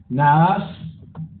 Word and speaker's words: Nahas: Naas, ahí está el acento en la segunda A, el rey amonita intimida,